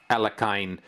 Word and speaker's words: Alekhine: former world champion Alexander alakain that's how his last name is pronounced in the English-speaking world but I've been told by a Russian friend that it's actually pronounced as Al yohin or something like that